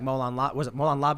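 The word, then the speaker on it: μολὼν λαβέ: We have people who have tons of guns and will say something like Molan Labe, is that how you pronounce it?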